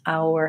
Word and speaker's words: our: you pronounce our house our house so our is probably the trickier part of that phrase our house starts with the diphthong ow which is the a vowel and the ow move oh oh oh